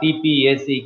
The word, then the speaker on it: TPACK: TPCK or TPACK, it is pronounced as TPAC, Technological Pedagogical Content Knowledge.